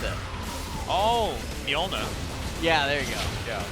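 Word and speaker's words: Mjölnir: Or is it like Moltenor? Thor's hammer? How do you pronounce it? Oh, Mjolnir.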